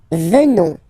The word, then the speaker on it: venons: Nous venons. Okay, O-N-S, classical ending for nous, okay, final S not pronounced, so O-N, on, venons, venons, nous venons, nous